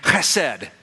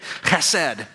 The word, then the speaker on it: chesed: Chesed. The first thing I need to teach you is how to say it, okay? So can you say it? Chesed.